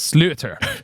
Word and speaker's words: sliotar: So it's spelled Sliotar, but I looked up the pronunciation because I didn't want to make people mad at me, but it's slaughter.